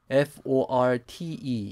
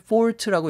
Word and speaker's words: forte: 근데 이 strength를 좀 더 근사하게 F-O-R-T-E 이렇게 얘기하기도 합니다. 이것을 fault라고 읽기도 하고 forte라고 읽기도 하는데 어떤 사람이 지닌 장점,